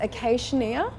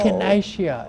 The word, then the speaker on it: Echinacea: scoop bubble gum, I'm going to mispronounce this, acacia, this season or at all? Echinacea. Echinacea. Okay, there we go.